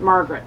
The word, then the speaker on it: Marguerite: think I asked my somebody and they're like, "Margaret." Oh, okay. Margaret. They're like, "It's just a fancy way to say Margaret."